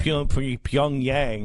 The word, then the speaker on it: Pyongyang: soul hacked radio party how do you say the punpun yang Yong yang Poong Yang's young yang Pyongyang there you go and played the Swedish